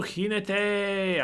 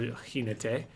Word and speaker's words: jinete: Ooh, jinete. I love the jinete. Or jinete. I guess it depends if you're being Portuguese or Spanish, how much you want to pronounce that J.